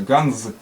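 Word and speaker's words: גאַנדז: Есть гусь, он ганс читается, ганс. В конце з звонкая, ганз.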